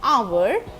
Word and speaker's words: hour: When I am pronouncing our, I am reflecting on O, and H is silent here.